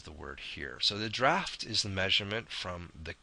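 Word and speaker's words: draught: actually two different types you can see the draft of a vessel and you can see here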